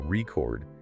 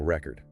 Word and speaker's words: record: But if you stress the second syllable record, it becomes a verb, like recording a video. Same word, two completely different meanings, just based on where you put the stress.